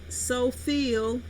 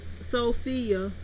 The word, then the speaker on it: Sophia: do with my name they say so feel or Sophie instead of pronouncing it correctly so Sophia the VD says my